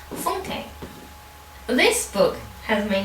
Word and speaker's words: Funke: And today we're going to be reviewing the fifth book in my 2019-10, and that is Inkheart by Cornelia Funke, or as I think it is actually pronounced, Funke.